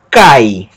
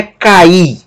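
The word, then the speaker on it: καί: aqui uma sílaba só vai ser pronunciado cai não é cair não é um hiato cair se fosse um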